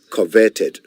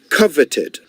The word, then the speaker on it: coveted: now my dear friends I said coveted not coverted coveted c-o-v-e-t-e-d coveted greatly desired